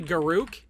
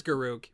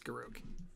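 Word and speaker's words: Garruk: can be mad but it's actually garuck and be mad all you want but it's garuck no one says garook but it's garuk that secret lair is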